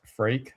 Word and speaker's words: Freak: point I get used to it, but it's pronounced freak.